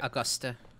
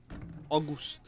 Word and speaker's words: Auguste: I think like yeah, something like Augusta. Augusta. Okay. Auguste. It's French. It's Auguste.